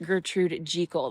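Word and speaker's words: Gertrude Jekyll: that I'm saying and apparently it is like the old English pronunciation of the name as opposed to Jackal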